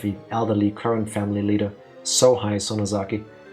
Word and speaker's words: Sohei: elderly current family leader, Sohei Sonozaki. It's funny to me that somebody who made their fortune and climbed the social ladder has a name that's pronounced so high.